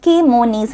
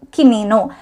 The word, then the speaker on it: kimono: അടുത്ത ചോദ്യമാണ് what is ke-mo-nees എന്നുള്ളത്. ഇത് വരുന്നത് ദ ബോഡി പൊളിറ്റിക് എന്ന് പറഞ്ഞ ഒരു പോയത്തിൽ നിന്നാണ്. ഹിറോമി ഗോട്ടോ എഴുതിയിട്ടുള്ള പോയമാണ്. ആൻസർ വരുന്നത് this is actually the mispronunciation of Japanese robe kimono.